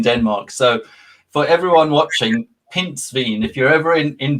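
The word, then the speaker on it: pindsvin: word for hedgehog so this is a pinspin pins veen yes okay because i i have seen as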